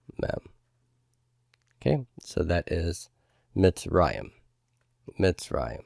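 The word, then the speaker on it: מצרים: okay so that is mitzrayim the right this is the word for Egypt by the way in Hebrew myths rah iam my accent is on that resh mitts Ryan okay so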